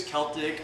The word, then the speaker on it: Celtic: salt but you can use Celtic or Celtic salt depending on how you pronounce it or you can use